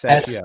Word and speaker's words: Sachiel: Let's see, it was how do you pronounce his name? Sachiel? Yes, Sachiel.